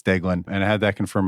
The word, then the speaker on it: Deaglan: pronunciations uh so uh Delan is is uh pretty uh simple it's not Dean it's delin and I had that